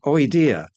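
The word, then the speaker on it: -oidea: Um they end o i d e a. Now I pronounce their oida. Somebody else might pronounce it a bit differently but bear with me.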